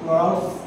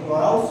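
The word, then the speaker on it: Clairaut: ক্লরাউস বা ফ্লরাস ইকুয়েশন বলায়। মানে ক্লরাউস বলে অনেকে ক্লার বলে। ঠিক আছে? তোমাদের যেকোনো উচ্চারণ করতে পারো।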